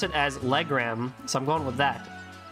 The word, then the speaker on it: Legram: No, Gaius pronounced it as Legram, so I'm going with that. L-E-Gram, like the measurement.